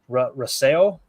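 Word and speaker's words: Rousseau: weird ways and then you got Greg uh Rasel is how you say it from Buffalo defensive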